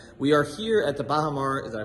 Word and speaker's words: Baha Mar: We are here at the Baha Mar, did I pronounce that correctly?